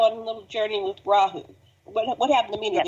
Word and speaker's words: Rahu: I spelled it R-A-H-U. Rahu. It's like Rahu. And Rahu.